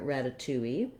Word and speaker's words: ratatouille: is this one here ratatouille that has four syllables with the stress on the second to last syllable two if you say ratatouille that stress is going